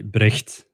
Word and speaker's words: Brecht: name first question right i'm actually already pronouncing it in an english way it's actually brecht yeah i feel you